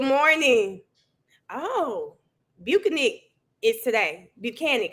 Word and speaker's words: Buchanan: Buchanan, I think that's what it is. It rhymes with mechanic.